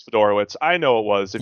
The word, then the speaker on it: Fedorowicz: CJ Fedorowicz, I believe is correct. That's exactly how you're supposed to pronounce it. How did you actually pronounce it? It may have slipped out Fedorix or something like that.